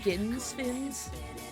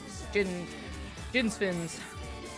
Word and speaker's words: Jinsfins: Is it Ginsfins? I feel like Jin makes more sense, right? Jin with a soft, okay. Yep. Jinsfins.